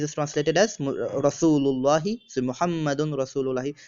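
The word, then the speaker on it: مُحَمَّدٌ رَسُولُ اللهِ: So Muhammadun Rasulullahi, pronounced as Muhammadur Rasulullahi.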